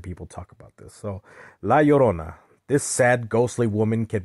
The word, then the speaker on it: La Llorona: Like they say La Llorona. Well, it's actually La Llorona.